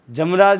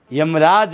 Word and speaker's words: यमराज: शब्द लिखा जमराज। जमराज नहीं है, यमराज है।